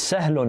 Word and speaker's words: سهل: It's sahlun, right?